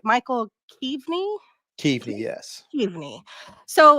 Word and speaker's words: Keav: um now Kei your name is if I pronounce this right Michael key key yes key so right off about where did I mean